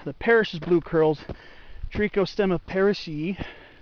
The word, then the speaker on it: parrishii: I believe I have seen both, the woolly blue curls, Trichostemma lanatum, and the Parrish's blue curls, Trichostemma parrishii. Yes, I pronounce the two I's at the end like E.